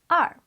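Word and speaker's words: 二: their floor level number two in Chinese is pronounced as r and this can be used to describe when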